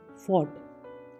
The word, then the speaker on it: fought: FOUGHT फॉट, फॉट। UGH कोई sound नहीं है, यानी कि लड़ा।